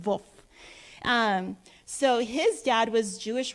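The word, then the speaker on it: Wolff: reverend john woof wolf he was born in germany so you pronounce his last name wolf so his dad was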